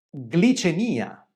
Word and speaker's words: glicemia: Glicemia, glissare. Qui c'è la vocale I. Perché pronunciamo glissare o glicemia e non glicemia? Perché si trova all'inizio della parola.